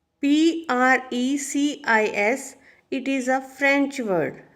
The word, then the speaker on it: precis: Firstly, you should know the pronunciation of the word Pressy. Why it is Pressy? Because S is silent here. Precis, it is a French word.